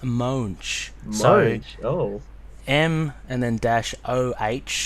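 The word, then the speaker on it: Moench: fancy as I thought actually I called him munch I know there's munch and mint apparently it's pronounced moans Oh Oh em and then - Oh H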